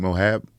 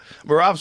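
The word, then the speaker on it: Merab: Mohab? What's that name? How you say his name? Which one? The guy, I thought he was Mexican. Marab? Yeah, Marab.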